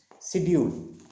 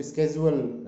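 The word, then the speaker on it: schedule: शेड्यूल, शेड्यूल एक शब्द है, इसको स्केजुअल अमेरिकन उसमें बोलते हैं, बट शेड्यूल आमतौर पर हम प्रोनाउंस करते हैं।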